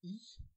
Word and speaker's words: e: Honda, qui présentait sa I, alors c'est prononcé à l'anglaise, hein, mais c'est une E, chez nous on dirait, pour notre plus grand plaisir.